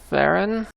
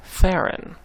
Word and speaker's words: Theron: The mispronunciation of Charlize Theron. It's not Charlize Theron. It's Charlize Theron. It rhymes with Sharon.